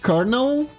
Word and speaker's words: colonel: Colonel. Is it Colonel? It's spelled with an L, but you say an R instead.